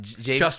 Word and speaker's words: Jvst: How did you pronounce it? Jvst Wine.